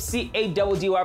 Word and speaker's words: Caddy: I go by the name of C-A-D-D-Y, pronounced Caddy.